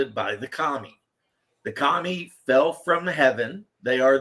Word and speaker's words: Kami: yeah yeah that's it even though it's spelled k a Mii but yes apparently Kami is a powerful spirit